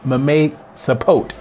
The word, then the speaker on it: mamey sapote: Number 5, this one I'm going to spell for you, but it's pronounced mamesapote.